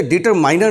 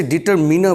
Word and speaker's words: determiner: article क्या है और डिटरमिनर क्या है पहले तो इससे डिटर माइनर नहीं पढ़ते this is नॉट a correct pronunciation डिटरमाइंड नहीं पढ़ते इसे डिटरमिनर बोलते हैं और आर भी लास्ट